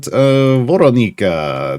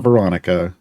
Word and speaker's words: Voronika: Let's talk about Voronika. Yes, that is how you pronounce her name. It is not Veronica.